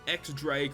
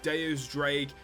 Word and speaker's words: X-Drake: to take on is X-Drake, or Deus Drake, however you want to pronounce it. X-Drake is just the simplest way to do it.